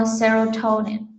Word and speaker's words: serotonin: Serotonin, the first Serotonin. syllable is stress.